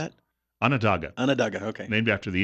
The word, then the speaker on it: Onondaga: Onondaga.